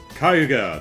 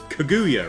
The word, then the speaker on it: Kaguya: and you'll get there kuga the dragon princess or kaguya rather I got the got the syllables backwards kaguya the dragon princess